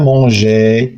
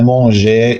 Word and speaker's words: mangeait: le lapin mangeait. كتلاحظوا بان الفعل راه الاساس ديال هاد الدرس هو ان الفعل كيتاكوردا مع الفاعل يعني كيمشي مع الفاعل. هنا tu cueilles vous cueillez EZ. le lapin mangeait une grande salade.